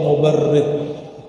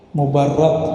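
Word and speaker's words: مُبَرَّد: Man ra'a wajhaka yas'ad ya karimal walidaini hauduka safil mubarrid wirduna yawman nusyuri. Mubarrad bacanya, as-safil mubarrad.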